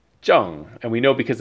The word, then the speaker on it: 正: So the pronunciation here is Zheng. Zheng. And we know because it's Lilakuma that it's the fourth tone, so it's the falling tone.